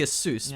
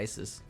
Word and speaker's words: ASUS: it Asus or Asus cuz it's technically Aus but Aus sounds stupid so why I call it Asus and that being said